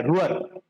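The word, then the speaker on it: Ruhr: इनको रूअर of India कहा जाता है। रूअर ये जो रीजन है ना जहां से रायने रिवर फ्लो कर रही है उस रीजन का नाम है रूअर।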